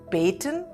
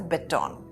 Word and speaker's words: baton: The British pronounce this as baiton and the Americans pronounce this as beton.